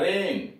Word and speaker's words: reign: टापू, पार्लियामेंट संसद, REIGN तो सीधे जी हटा दिया जाता है। रेन, रेन शासन, और उसे W हटा दिया जाता है।